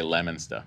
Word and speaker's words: Leominster: It's spelled Leominster, but we say Leominster.